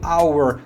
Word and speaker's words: hour: Porém, na primeira, hour, o H, ele não tem um som tônico que é específico do H, que é aquele som na garganta, aquele som que arranha. Então, ele é mudo.